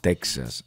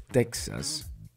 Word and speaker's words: Texas: escucharon eso ahora bien el hecho de que el gobierno le diga Texas a Texas Está correcto Bueno le explico algo